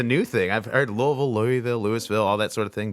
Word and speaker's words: Louisville: I've heard Louisville, Louisville, all that sort of thing. But You got to say it like you have Louisville. cotton balls in your mouth.